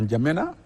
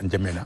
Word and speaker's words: N'Djamena: a fini par adopter N'Djamena. Et le nom a été écrit tel que c'est prononcé. Quand je suis revenu, j'ai écrit N'Djamena, N'Djamena sans N. Oui. N'Djamena tout simplement.